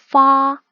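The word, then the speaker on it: 发: 8은 중국어 발음으로 빠라고 하는데 중국어에 돈을 벌다에서 벌다에 해당하는 표현이요. 파입니다. 8은 빠, 벌다는 파, 발음이 비슷하죠.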